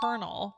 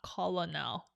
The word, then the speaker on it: colonel: on all the time first one is Colonel it's colel not Colonel I kept saying Colonel